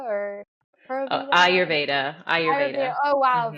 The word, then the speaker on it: Ayurveda: think you said something about, but I may pronounce this incorrectly. I feel like you said Purvita or Purvita. Ayurveda, Ayurveda.